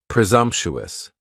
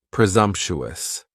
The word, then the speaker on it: presumptuous: task next is presumptuous and presumptuous has four syllables and the stress is on that second syllable and the S almost sounds a little more like a z presumptuous presumptuous if somebody is being